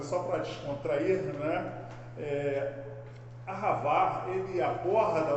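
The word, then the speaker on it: אהבה: vai dizer que é ahavá. Pronuncia melhor aí, Paulo. Você sabe tudo mesmo, de hebraico. Não sei não. É ahavar mesmo, é com a garganta.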